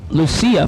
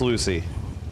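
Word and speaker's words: Lucie: Lucia, Florida. Lucia? Lucia or Lucia? Lucia? It's Lucy. Then why don't they just spell it Lucy?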